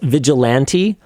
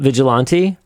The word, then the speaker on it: vigilante: Okay, but we need to have a bit of a side conversation here because apparently it's vigilante, not vigilante.